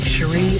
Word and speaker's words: Cherie: There was Chic, Cherie, and Oui, or Chick, Cherry, and Howie, as my friends and I mispronounced them.